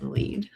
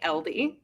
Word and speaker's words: Elide: And also, I'm really proud of you for not saying LD. I know. You used to say. I've been saying it right since, because this one makes sense spelled that way.